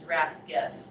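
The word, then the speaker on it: RasGEF: ras guef so the the way that researchers pronounce that is rask f and what rasguef does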